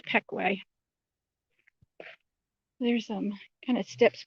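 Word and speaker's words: Pequea: peckway creek spelled p qu UA and it's pronounced Peekay there's some kind of steps buil in down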